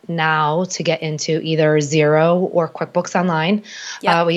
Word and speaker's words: Xero: And side note, if you are listening and you're not watching the video version, so Xero is Xero, not spelled with a Z.